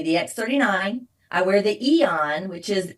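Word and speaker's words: Aen: I wear the Eon which is spelled AE N because it's an anti-inflammation patch.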